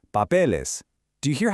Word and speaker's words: papeles: So under our level 2 rule, we definitely don't say papels, we add the ES, and it smoothly becomes papeles.